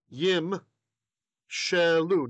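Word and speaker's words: יִמְשְׁלוּ: So this is pronounced when you're reading it. Yim shelu.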